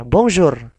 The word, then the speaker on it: bonjour: ketika kita mempelajari alfabet, huruf R kita samakan dengan pengucapan huruf Kh ketika kita mengaji Al-Quran.